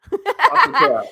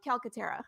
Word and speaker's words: Calcaterra: You could say it like you're Italian with your hands like Calcaterra, and that's okay too. I just don't. But Calcaterra, yeah.